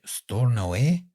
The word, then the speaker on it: Stornoway: We have listeners in Aberdeen, And this place called, I think I pronounced it right, Stornoway. I pronounced it right there?